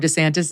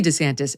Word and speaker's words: DeSantis: and his wife Casey DeSantis diverging in how they pronounce their now shared last name I'm Ron DeSantis I'm Ron DeSantis everyone